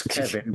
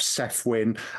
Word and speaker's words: Cefyn: explaining yours I mean people can see how my name is spelled it's Kevin but you know I I have Seth win um you you would be surprised over the years how many people think that there's an invisible W in my name um